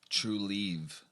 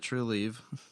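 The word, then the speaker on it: Trulieve: one to say anyways spell it out t r u e l i e v e true leave true leave bad radio but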